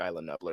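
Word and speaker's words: Isla Nublar: uh island nuer or Ela nublar I say it like Isa nuer that's how John Han said it that's how I'm gonna say it and they and blowing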